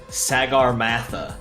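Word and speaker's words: Sagarmatha: this if you're adjacent to me to the Sagar Matha which is how it is properly pronounced you gain hardcover the second part super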